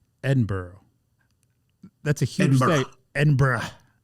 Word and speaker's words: Edinburgh: Edinburgh. That's a huge Edinburgh. Like like um like the mule burough. Edinburgh. Oh, you say borrow, don't you? Edinburgh. It's Edinburgh.